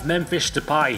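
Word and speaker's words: Memphis Depay: rumor since last year's World Cup we have mfish to pie thank you to every Dutch person in the world for helping me pronounce his name right thank you many think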